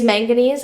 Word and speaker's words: manganese: It's name is manganese, and if it helps you, it rhymes with mac and cheese. So, remember that that's manganese mac and cheese up there.